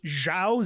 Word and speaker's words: Zhao: But from everything that I've researched, Zhao, Z-H-A-O, is the more accurate and correct way not only to spell it, but also to pronounce it.